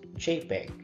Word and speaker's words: JPEG: of pictures first is the that jpg or pronounced as JPEG and is short for JP or joint photographic